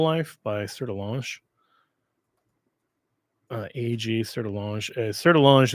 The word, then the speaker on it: Sertillanges: Sertillange is spelled, as you might imagine, Sertillanges.